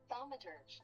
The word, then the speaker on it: thaumaturge: Let me see. Turge. Pronunciation. Thaumaturge. Okay, I am saying it right.